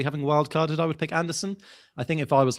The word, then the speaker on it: Andersen: Elliot Andersen is SON, Anderson. Joachim Andersen is Andersen. You know this because the Sen is a Scandinavian pronunciation and he's from Scandinavia.